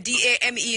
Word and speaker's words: Dame: And then D-A-M-E is pronounced what? Dame or Dame? Dam. Dam.